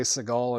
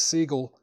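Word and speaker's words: Segall: I used to say Seagal until I saw like an interview with him and he pronounces his own last name as Seagull.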